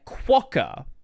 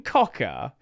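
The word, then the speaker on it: Quokka: Now, just so we're clear, 25.10 10 is questing quawker. Quawker is how you say it. Not questing cocker. You could very well mistakenly read it like that if you're very internetrained like I am.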